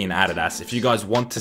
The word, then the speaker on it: Adidas: We're looking at Nike and we're looking at Adidas. And yes, I pronounced both of them correctly. I don't give a shit how you pronounce it. It's Nike and Adidas, and if you don't like it, you're wrong